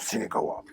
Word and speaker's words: Cinekawa: Et on a une émission qui s'appelle Cinekawa, ou qu'on prononce Cinekawa. Et Je croyais que c'était kawa, genre le café.